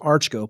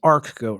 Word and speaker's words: Archgoat: it a little different a lot of people pronounce it arch goat but it is actually arc goat right that's correct we